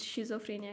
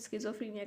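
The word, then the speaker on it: schizophrenia: इसकी pronunciation very करती है, कुछ शिज़ोफ्रेनिया कहते हैं, कुछ स्किज़ोफ्रेनिया कहते हैं, व्हाटएवर यू से।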